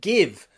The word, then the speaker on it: give: GI here in girl and GI in give have that G pronunciation, which we will learn in a minute. But they are exceptions.